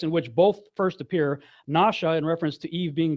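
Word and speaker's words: נשא: When it's over the right side, it's pronounced more like nasha. It's pronounced with a sh sound.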